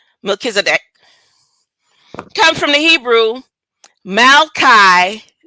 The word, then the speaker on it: Melchizedek: phonetics, and she says the emphasis on the second syllable Kiz and the sound, UH, is pronounced quickly and lightly.